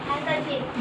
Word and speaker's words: handkerchief: chief हैंकरचीफ, handkerchief D silent.